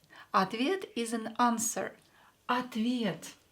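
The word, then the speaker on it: ответ: pronounce is a question another word is Advia same here or will be pronounced as a because it's not stressed atvid is an answer at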